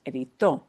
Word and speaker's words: editó: But because the way this is pronounced breaks that rule, I have to write an accent mark so that people know, oh, you're punching the end.